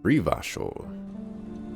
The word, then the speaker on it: Revachol: Revachol is pronounced Rivachol.